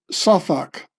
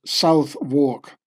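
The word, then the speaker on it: Southwark: part of London, Kalurma was born in Sak, which Americans would pronounce South Walk.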